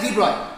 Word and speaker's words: de Broglie: Okay, so de Broglie has de Broglie, but we pronounce it as de Broglie.